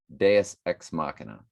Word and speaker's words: Deus Ex Machina: Deus Ex Machina, I think is how you pronounce it.